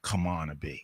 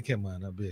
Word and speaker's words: Camana Bay: I always got to say it right. Camana Bay. Oh, that's how you say it? That's supposed to be how you say it. I say Camana Bay. So well, you're wrong, sir.